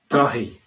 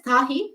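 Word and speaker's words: Daithí: 그리고 what is Dahi? Dahi. He cannot spell it. Daithai. Daithai. Dahi. Dahi. It's like Korean name Dahi.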